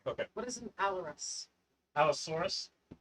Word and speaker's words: Allosaurus: Alorus? Down to the bottom. Okay. What is an Alorus? Allosaurus. It's a dinosaur. Saurus. It says Allosaurus.